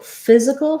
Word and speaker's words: physical: brain for spelling so physical has first syllable stress letters ph say the f sound like letter f this letter y is